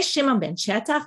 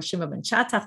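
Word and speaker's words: Shimon ben Shetach: Bimei Shimon ben Chetach, or Shimon ben Chetach, there's different ways of pronouncing his name.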